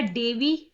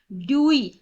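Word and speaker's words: Dewey: डेवी, ठीक है, और किसी में आपको ड्यूई, सॉरी ड्यूई। तो पजल नहीं होना, एक ही नाम है जॉन। मेरे मुंह से भी कई बार प्रोनाउंस जब मैं करती हूँ तो कभी डीवी निकल जाता है, कभी डेवी निकल जाता है, कभी ड्यूई निकल जाता है। तो ये सिर्फ प्रोनाउंसिएशन का डिफरेंस है।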